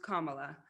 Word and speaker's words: Kamala: we get started first my name is pronounced kamala like the punctuation mark it means lotus flower